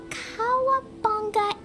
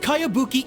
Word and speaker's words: Kayabuki: heard of it by kawabonga icky this is a really strange name who's this Cowabunga it's pronounced kayabuki Ike that would be